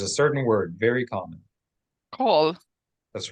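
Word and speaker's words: כל: to quickly learn that kol is the exception. They pronounce the vowel in the classical way, even in modern Hebrew, with the word kol. So don't read kol as kal.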